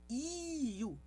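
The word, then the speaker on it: ㅠ: Nós temos aqui a vogal IU. IU. Que é a pronúncia da vogal I, mas a vogal U. E a chave é deslizar de uma para outra sem deixar nenhum intervalo entre elas.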